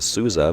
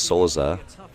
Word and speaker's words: Souza: And Souza, I've been calling him Souza, but thanks to Nicholas, he said the proper way to pronounce it in Portuguese is Souza.